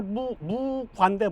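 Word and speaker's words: 木瓜: 중국에서 나무 목자 오이 과자 쓴 거는 중국 발음으로 이제 무과인데 무과. 나무 목 발음이 이제 중국 발음으로는 무가 되고 과는 똑같아요.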